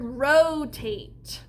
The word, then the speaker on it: rotate: All right, my first syllable is row. This is spelled R-O. And this kind of syllable would be open because my O is long. Then I have the syllable tate. I have t, a, t. And since this is a long A, I need a helper E at the end. That won't say a sound.